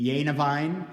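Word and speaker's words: Gennewein: named Carl Paul genuine he was actually born in Germany so the pronunciation would be yanivine Carl Paul yanivine but he made his home in the United States born in 1890 died in 1978.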